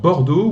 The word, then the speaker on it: Bordeaux: 황희 선수가 있는 발음 한 번만 더 다시 한번 어떻게 할까요? Alors, Bordeaux ou alors Girondins de Bordeaux. 지용당 드 Girondins de 보르도. Bordeaux, 네.